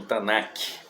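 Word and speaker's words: Tanakh: chamada o antigo testamento é chamado de tanar né ou alguns pronunciam tanac ela é chamada de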